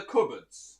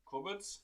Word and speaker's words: cupboard: what do you call them as in the cupboards yeah how do you say it cupboards yeah and how would you spell it don't don't if it's right or not